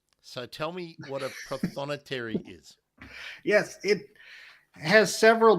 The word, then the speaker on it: Prothonotary: Now, let's get the pronunciation right. Yes. Prothonotary. This warbler, yeah. What? How do we say it? Prothonotary.